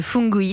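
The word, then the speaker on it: Fungu'it: et ben justement vous allez nous parler de fungoids ça s'écrit fun g u apostrophe it c'est parti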